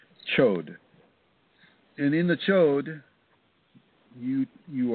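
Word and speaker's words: chöd: It's spelled C-H-O, the umlaut, or the O and D, D as in dog, chod.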